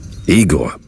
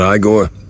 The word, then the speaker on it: Eigor: Eigore, not Iiggore.